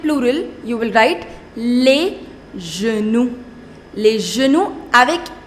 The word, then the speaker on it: genoux: However, the pronunciation doesn't change. Le genou, les genoux. You will not pronounce that X.